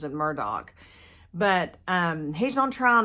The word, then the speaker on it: Murdaugh: Murdock is it's either Murdoch or Murdoch he pronounces it Murdoch but um he's on trial now for the